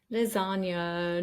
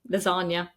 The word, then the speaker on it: lasagna: have some words like lasagna noi that have come into our language and I'm really sorry Italians we just mispronounce them we just pronounce it with an N lasagna sorry so I hope